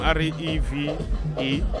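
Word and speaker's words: Rêve: Rev is a French name, R-E-V-E, but the first E has a cap on it. So you pronounce it Rev, and it means to dream.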